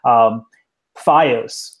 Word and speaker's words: FiOS: guys throughout the question FiOS which is frida iOS something yes it's spelled like verizon fios and I'm waiting for